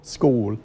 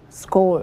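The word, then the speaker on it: skål: teaches Swedish at the American Swedish Institute goal school school mm-hmm that's how it's pronounced how do you spell that SK a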